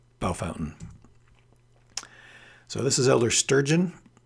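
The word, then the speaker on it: Bellefontaine: yeah by the way that is pronounced bell fountain bell fountain so don't waste your time saying wait you're saying that wrong well if i was in france i might be saying it wrong but in ohio i'm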